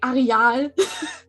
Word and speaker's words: Arial: Yeah, I mean, the way I pronounce it can be blamed on me being German again, because in German we say Areal. Yeah. So I'm like, okay, what's like the closest English pronunciation to that?